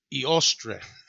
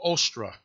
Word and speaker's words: Eostre: spring which is uh her name if i pronounce it right it's uh iostre or ostra which is where you get later on it becomes easter it says in most